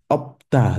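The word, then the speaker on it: 없다: Okay, opta. This is opta. The S also still becomes silent.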